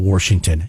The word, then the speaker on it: Washington: to get out of washington did you ever have anybody in your family pronouncing washington my dad i don't know what that is there's no r there's no oh it's washington why did they say